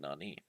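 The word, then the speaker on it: 何: Two pronunciations, naan and nani. Naan is used before death. or before a counter.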